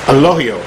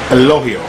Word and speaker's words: Elogio: to say it it's Al loio it's not two syllables it's just one syllable all the way through the G is actually pronounced as an H now four years of